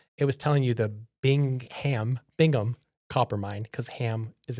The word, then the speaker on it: Bingham: We never say Bingham, but it's spelled with a ham.